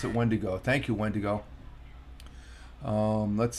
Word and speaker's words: wendigo: okay wendigo okay that's how you okay I'll pronounce it wendigo thank you Wendigo um let's see Let's see